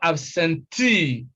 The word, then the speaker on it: absentee: e right e now such words are stressed on the first syllable from the end that is the last syllable and words like this